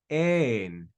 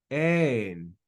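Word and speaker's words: ἦν: So this is pronounced ein, ein, ein. We go up and down on that syllable, ein, because of that accent mark, that tilde.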